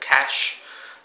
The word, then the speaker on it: cache: just need to erase the cache or Cas depending on how you pronounce it I'm pretty sure you're supposed to pronounce it cash though in Australia a